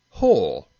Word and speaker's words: who: w very little sir sometimes i'm silent as in the word wrench and wrestle and whole and who and all